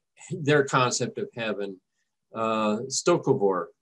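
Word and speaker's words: Sto-vo-kor: concept of heaven uh stokovor i believe is the way the word is pronounced in klingon or the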